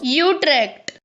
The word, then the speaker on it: Utrecht: trek for god's sake how do you say it i know it's not bad utrect that's it that's the one that's the official pronunciation sorry netherlands gonna have